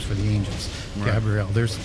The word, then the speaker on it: Gabriel: And I say that just deliberately where I have a EL. Yeah. Why do you say it like that? Well, because in angelic names, they end with a Hebrew word, which is EL, which is defined as an angel or a god.